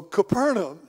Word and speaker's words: Capernaum: I hope I did, because for years I said it wrong. I really did. And finally, some folks that were from there, they told me, says, now, this is the way you say that word. So Capernaum.